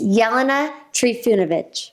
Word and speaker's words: Jelena Trifunovic: It's Jelena Trifunovic.